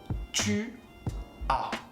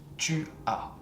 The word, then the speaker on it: tu as: Tu as. You have. The S is silent. Tu as.